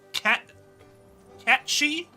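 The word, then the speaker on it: Cait Sith: don't know why and it's actually allegedly pronounced cat cat shei but nobody pronounces it that way it's not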